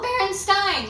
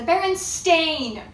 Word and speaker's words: Berenstain: and I was like Hello Baron Stein like Frankenstein right yeah cuz I remember thinking that and then all of a sudden everybody looks at their Berenstein bears books and it's not spelled with an E it's spelled with an A the berenstain bears Berenstain